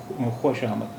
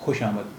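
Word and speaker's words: خوشامد: अब इसकी आवाज़ है खुशामद। अब वाव का तलफ़ुज़ या वाव का प्रोनाउंसिएशन नहीं किया जाता है, आप इसे ये मान लें कि वाव यहाँ पर साइलेंट है।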